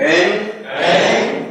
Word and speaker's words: ऐं: ओम ऐं ह्रीं श्रीं एम नहीं बोलना, एं ग बोलना जाना। ऐं ह्रीं श्रीं ग की ध्वनि है, म की ध्वनि नहीं है।